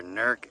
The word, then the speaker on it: Newark: to call them, in Newark. For those of you that think it is pronounced Newark, it is not. However, Newark is also an acceptable pronunciation.